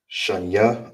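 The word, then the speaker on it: שתיים: in the second way for how do you say two in Hebrew is sha it's like a sha I will be showing you right. Shya or Shany. Those are the two ways to say to in the Hebrew.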